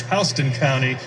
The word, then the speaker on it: Houston County: one of them is in republican county i mispronounced it earlier for the record i want to say correctly it's houston county that's houston county there's also a houston street